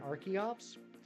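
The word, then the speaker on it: Archeops: the arch the arch is supposed to be based off of archaeology and I said you know what that actually makes a lot of sense I never thought of it that way so since then I changed it in my mind to Arin and Arch Ops and then same thing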